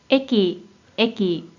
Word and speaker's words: 駅: 먼저 뜻으로는 발음이 없고 음으로만 駅、駅、 라고 발음해줘요.